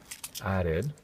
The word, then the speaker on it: added: Then he add some Now remember, that's got the ed at the end. So add is right, but then you have to say the sound at the end. Added.